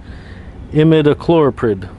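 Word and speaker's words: imidacloprid: use granular and just so that I could pronounce it correctly imid chlorid uh it is a neonicotinoid or neonic class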